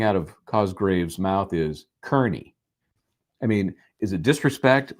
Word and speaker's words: Kearney: We know that Cosgrave, and I'm going to continue to call him Cosgrave until he learns how to pronounce Aidan Kearney's name correctly. He says Kearney, always, no matter what.